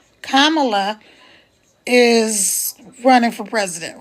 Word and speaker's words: Kamala: We got a unique situation right now because Kamala, comma, and then la. So it's just like if you had a comma and you put a la at the end of it. That's how you say her name.